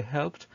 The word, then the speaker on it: helped: After verbs ending in p sound, the p sounds, for example, we have here helped. So we say helped, and this is the phonetic transcription of the verb.